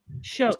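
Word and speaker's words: Shough: Oh, it's pronounced Chuck.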